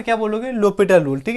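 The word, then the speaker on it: L'Hôpital: यूज़ करने पड़ेंगे जिसको बोलते हैं लोपट रूल ठीक है पूरा नाम होता है डीएल डी लोपट डी लोपट और एल हमारे पास स्टैंड होता है लव के लिए तो अगर इसको जैसे हम प्रोनाउंस अभी तक करते हैं तो उसको पढ़ेंगे डी लव हॉस्पिटल खैर तो इस तरीके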